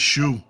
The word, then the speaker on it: Xu: Yeah, it's it's Shu. Yeah, it's actually pronounced sh hu. Shu. This it's an X, but you pronounce sh.